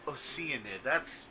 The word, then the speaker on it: Oceanid: It's pronounced Oceanid? Or those Oceanid? Oh my god, it's Oceanid.